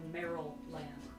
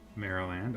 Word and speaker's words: Maryland: We've got another person voting and saying it's like almost saying Merrill Land. M-E-R-R-I-L land. Maryland.